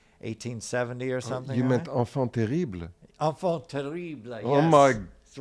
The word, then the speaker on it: enfant terrible: You meant enfant terrible. Enfant terrible. Yes. Oh my That's what I say. Just kidding. He pronounced it wrong.